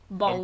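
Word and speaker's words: Bown: Bone. Bone. Welcome to the Bone Town. Spelt the same, but pronounced differently.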